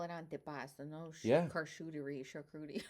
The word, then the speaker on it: antipasto: See, Americans would say antipuesto. My mother said andibast. yeah, antipasto.